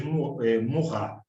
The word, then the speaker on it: Maurras: de 80 e 90, se escreve Malvas, mas lê em francês Maurras.